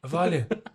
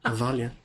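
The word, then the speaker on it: abhaile: Aalia. Aalia. Well, the BH would usually make a a V sound in Irish, wouldn't it?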